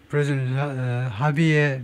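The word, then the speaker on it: Javier: 하비에 멜레이 하비에 스페니에서 H는 J는 H 발음을 하지요.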